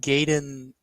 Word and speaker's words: Gaiden: and sweet uh Ninja gayen Four isn't that how you say it ninja g n bro don't don't don't correct him it's gayon okay um I the